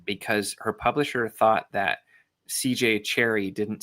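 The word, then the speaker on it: C. J. Cherryh: Apparently, for the record too, because I used to think it was like Shara or something, but the H is silent because her publisher thought that CJ Cherry didn't sound enough like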